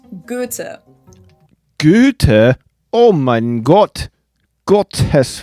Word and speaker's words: Goethe: is a different way of spelling for the O umlaut, and the H is silent, so his full name is Johann Wolfgang von Goethe.